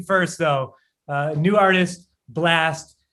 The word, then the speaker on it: Blxst: uh new artist blast it's spelled with i get it every time we play the song i'm like you got if you if you want to find more music from blast you got to spell it with the x what's the what's the